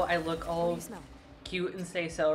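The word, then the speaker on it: seiso: collect its meal I say so uh say so it's spelled s-e-i-s-o it's lingo that I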